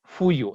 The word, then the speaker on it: fuyu: Eso igual también, la pronunciación, en el centro también dicen puyu, ¿está bien? Nosotros aquí decimos fuyu en el norte, ¿sí? Y los charijaya también son de Otavalo, entonces también dicen fuyu, ¿sí?